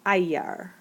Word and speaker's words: Eier: Und sie nimmt auch, this is singular, pronounce that, I, pronounce that, it's Eier.